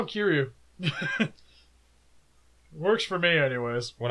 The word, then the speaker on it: Kiryu: Kiryu, which is our new Mechagodzilla, or Kiyu. I think that's how they say it in the movie. Kiyu, yeah. It's in Japanese it was Kiyu. Kiyu. I watched English. I still call it Kiyu. But it has an R, so I just call him Kiryu.